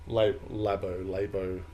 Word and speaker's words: Labo: rather than Labo, however you say it. Labio, I believe. Labio. Is the correct pronunciation.